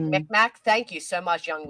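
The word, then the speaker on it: Mi'kmaq: Said like McMack, thank you so much, Young Whezy.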